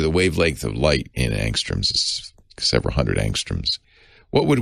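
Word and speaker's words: ångström: kind of new it's angstrom yeah angstrom a-n-g-s-t-r-o-m swedish word so the a has a little halo over it and the o has an umlaut so it's probably pronounced angstrom it's named after a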